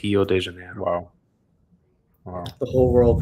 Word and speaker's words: Rio de Janeiro: There's no R in Portuguese at the beginning of the word, so it's Rio de Janeiro.